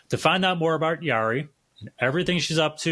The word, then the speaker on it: Yori: gonna butcher it but I'm to you okay Yari I rested up Yari a aola Scott I just butchered that didn't I say it for you got it Yari Iola Scott Iola Yari Iola Scott everyone psychotherapist author podcaster she all